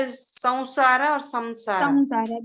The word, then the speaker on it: samsara: This will be samsara because after sa, some you have sa. Sa is again the nasal consonant. Sa is sa, sha, sha, ha, ya, ra, la, va. These syllables will come, so the Anuswara sound will be changed to va, Anunasik.